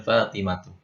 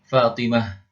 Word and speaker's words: Fatimah: ditulis dengan terikat lalu ketika diwakaf Ta marbutnya atau haisnya dibaca ha thhah Fatimah Fatah gitu ya Jadi dibacanya ha Bukannya thhat fatimat fatat salah ya jadi harus dibaca ha kemudian dia hanya pada